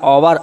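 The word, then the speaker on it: hour: यू are late, Y that that dash, अगले लिखा ओवर, एच ओ यू आर, हमने कहा था ओ की आवाज़ आ रही ओवर, ओवर आ रहा है ओवर, लेकिन एच नहीं आ रहा, एच साइलेंट, इसलिए क्या आएगा, एन आएगा, this is यूज ऑफ एन।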